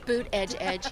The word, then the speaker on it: Buttigieg: okay how do you how do you say it Buddha judge all right there you you go that's another one double edge helps boot Edge Edge you know boot Edge